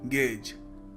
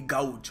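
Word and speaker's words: gauge: देखिए पहला शब्द है गेज। गेज जी ए यू जी ई। अब लोग इसको कई बार देखते हैं और सोचते हैं इसको प्रोनाउंस करने का तरीका होगा मे बी गाउज। और काफी सारे लोग गाउज बोलते भी हैं। Which is wrong.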